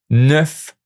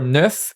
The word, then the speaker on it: neuf: Watch out for neuf and chef. The final V is pronounced, which isn't always the case with French consonant.